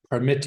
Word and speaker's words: permit: record record permit permit there is a group of noun and verbs that are spelled identically but pronounced differently so the verb how's this verb pronounced permit and the verbs record same with present present so what do you notice second syllable is the verb present record permit the noun record present permit so you can make